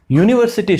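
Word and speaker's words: university: यूनिवर्सिटी student, यूनिवर्सिटी में आप इसकी आवाज़ देखें, यू य के रूप में आवाज़ आ रही है, इसलिए अ यूनिवर्सिटी स्टूडेंट।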